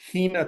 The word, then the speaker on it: Hina: Okay, my first pick, I'm going to go to the Hina tribe. I'm not even sure if I'm pronouncing that right.